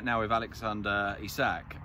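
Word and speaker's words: Isak: right now Eve Alexander he sack o e sack I think is supposed to put the accent on the I at the start he's he's brilliant to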